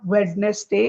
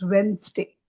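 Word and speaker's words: Wednesday: This word is नॉट वेडनेसडे। इट इज वेडनेसडे।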